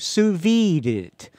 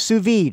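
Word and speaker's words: sous vide: Sousie it. I don't know how how you pronounce suvid is how the how you pronounce it.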